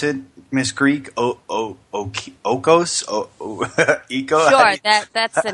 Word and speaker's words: Oikos: It's how do you pronounce it, Miss Greek? Okos? Eco? Sure, that's the name. Oikos.